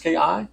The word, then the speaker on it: Zubinski: You tell me how to say this last name. I can't even see it. Zubinski? Dre Zubinski, I believe. Zubinski. Yeah, it is.